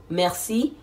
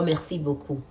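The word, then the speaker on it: merci: to be how do you say thank you Mercy or Mercy Mercy Boku is thank you so much Mercy thank you Mercy B thank you so much the next one is going to be when you say Mercy to somebody the person is going to tell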